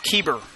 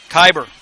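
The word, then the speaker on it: Keiber: to2 put out the 10th batter is Cordell keber kyber said it wrong again kyber with a field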